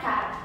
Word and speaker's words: cara: Também a palavra cara. A palavra cara também tem um pronunciamento mais fechado por não possuir nenhum acento.